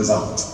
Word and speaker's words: Warndt: Donc quand on dit VART maintenant, dans le nord à Thionville, on voit à peu près où c'est.